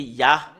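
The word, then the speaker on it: יה: Et nous avons vu que il y a vraiment il y a vraiment un terme qu'on le prononce, c'est ya.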